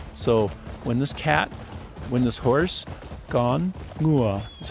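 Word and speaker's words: ngựa: So when this horse, gone, ngua is how you say it in Vietnamese, horse.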